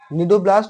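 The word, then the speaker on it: cnidoblast: सी silent होता है। इसलिए हम इसको निडेरिया पढ़ रहे हैं। इसी तरह यहां पर यहां भी सी साइलेंट है। इसलिए इसको हम लोग नीडोब्लास्ट बोलते हैं। नीडोब्लास्ट जो होता है यूज़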